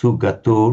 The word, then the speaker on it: sugato: It's a short vowel but it's got to be distinctly pronounced sugato not something but otherwise very good.